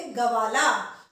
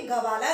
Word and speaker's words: ग्वाला: होता तो हम बोलते गवाला, पर ये गवाला नहीं है, ग्वाला, ग्व। तो ग के जो ग है आधा वो व के साथ एकदम से मिल रहा है, तो उच्चारण कैसे हुआ, ग्वाला।